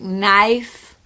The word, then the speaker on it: knife: In English, we have words like knife, where you don't pronounce the K, or gnome, where you don't pronounce the G.